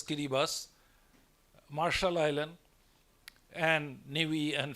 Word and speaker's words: Kiribati: are countries like tuvalu Kiribati they pronounce as kiribas Marshall Island and nii